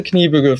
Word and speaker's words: Kniebűgl: Did I pronounce your name right, Dan? Kniebűgl? Yes, very well. Thank you. Because we were actually wondering about it because it sounds German from the pronunciation. It's German name.